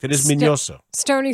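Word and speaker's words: Miñoso: it right minos yeah there's a tilde it's a it's it is minoso but everyone says minoso and ozzy you know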